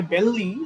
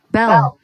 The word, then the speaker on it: belle: দেখতে মনে হয় বেললি, বাট এটা উচ্চারণ হচ্ছে বেল, লাস্টের ইটা সাইলেন্ট। Bell.